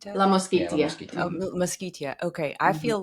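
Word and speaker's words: La Mosquitia: So le let's talk a little bit about La Mosquita. Am I saying it correctly? La Mosquito. La Moskeia.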